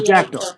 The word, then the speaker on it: Jackdaw: Yeah, Jackdo. Okay. Oh, Jackdaw. Okay. Like the bird. Like the bird, the jackdaw.